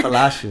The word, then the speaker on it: Palacios: Yeah, Palacios.